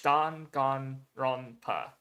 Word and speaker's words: Danganronpa: So yeah, it's Danganronpa. So da ga ro pa again. So and then with the end sounds in there to end off the syllables. So that's how you pronounce it.